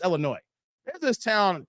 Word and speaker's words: Illinois: illino illo I had it's Illinois the S is silent guys stop saying Illinois it's Illinois there's this town called Lamont right Lamont is